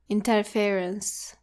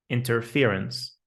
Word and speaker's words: interference: Don't say it like interference. It has an e sound. It comes from the verb interfere, not interfere. So the word is interference. Interference. Interfere rhymes with hear, clear, and steer.